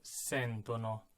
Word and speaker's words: sentono: voi sentite, e loro sentono. Remember, in the third person plural, the emphasis goes back one syllable, just like with ARE verbs, right? Loro sentono.